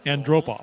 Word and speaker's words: Antropov: Ken Wilson pronounced it. Andropov.